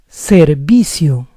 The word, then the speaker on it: servicio: Now the letter V in Spanish sounds the same as B. Therefore, the word is servicio, servicio, or servicio. Automatic in Spanish.